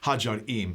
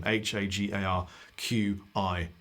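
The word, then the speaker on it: Ħaġar Qim: You should go check out Hajar Im, Hagarqim, I think is how it's spelled. Qim, Hagar Qim, if you're English. It's Hajar Im.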